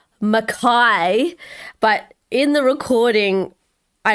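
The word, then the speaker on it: Mackay: and over called it mckay it didn't i didn't even know i've never even heard of it i know that it's makai i just because it's spelt m-a-c-k-a-y so yeah in my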